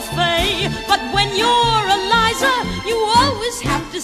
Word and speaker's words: Liza: It's Liza with a Z, not Lisa with an S, cause Lisa with an S goes snods. It's Z instead of S, Lie instead of Lee.